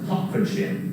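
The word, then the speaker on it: Hertfordshire: county just north of london and it's actually pronounced hopkinship oh i'm i'm sorry i always get that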